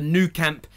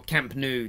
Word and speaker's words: Camp Nou: chance of beating Barcelona at the new camp in the Champions League or Camp Nou depending on how you want to pronounce it but we all know